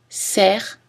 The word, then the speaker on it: cerf: Notez aussi clé, cerf, cerf-volant, nerf, chef-d'œuvre, où le F final n'est pas prononcé, mais en général, si vous avez uniquement le mot chef, alors il est prononcé.